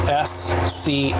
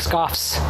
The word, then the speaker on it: scoff: It's S-C-O-F-F. Scoff? Scoff. Scoff. It's not plural. It's not like scoffs.